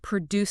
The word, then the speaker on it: produce: When you walk past the fresh vegetables at the entrance, actively say "produce section" in your mind, stressing the first syllable.